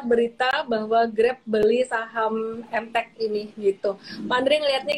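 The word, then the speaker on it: Emtek: Yang hari ini naik banget tuh, hype banget tuh MTech itu. Jadi dalam kota teknologi kode sahamnya EMTK ya. Dibacanya MTech gitu.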